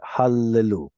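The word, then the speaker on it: הללו: in a row so is this an audible or silent Shah should be silent but because the following letters the same we'll pronounce it hallelu like Hallelujah um here we get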